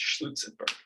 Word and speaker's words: Schlutzenberg: Lutzenberg, I recently learned from farmer Schlutzenberg himself that it's pronounced Schlutzenberg. So Schlutzenberg proved that that ZFC plus I0 is equiconsistent actually with ZF plus all this DC lambda principle.